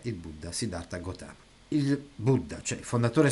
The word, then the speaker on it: Gautama: La storia del romanzo è simile a quella che si sa di Siddhartha Gautama, pronunciato Gautmu.